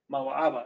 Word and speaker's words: Moab: So you got Moab right here, Ma. Ma waaba. Ma aba. That's how it's pronounced.